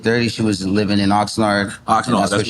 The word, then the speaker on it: Oxnard: How you pronounce it? Oxnard.